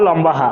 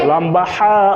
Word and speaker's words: লম্বা হা: এই লম্বা হা উচ্চারণ হবে গলার মধ্যে।